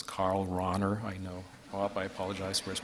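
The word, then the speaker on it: Karl Rahner: about Karana and I'm always told that I pronounce them wrong so it's Carl Rauner I know I apologize where's Bob there theological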